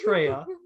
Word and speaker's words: Treya: okay so this is treya no mo guy i like troye because i got three colors right a little bit right and and so treya rhymes with leia and zanna rhymes with